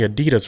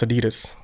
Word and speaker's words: Adidas: And it is actually pronounced Adidas because the dude name was Adi, and then his last name was like Dassler, but his real name was actually Adolf.